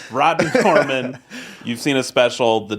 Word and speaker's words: Rodney Norman: I said Rodney Norum? Wow. Wow, we'll cut that, or you'll keep it in. It's not a tough name to pronounce either. Rodney, you know him. I know his name. Rodney Norman.